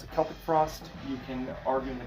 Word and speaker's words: Celtic Frost: Celtic Frost, or Celtic Frost, I pronounce it Celtic Frost.